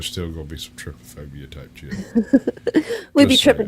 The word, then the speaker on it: trypophobia: Trypophobia.